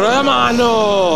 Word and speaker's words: Romano: talk about his name, you need to roll his R's, so if you could just do that for me. Delegating as always, abdicating your position. Fabio Romano, come on. Fabio Romano, that's how you say it.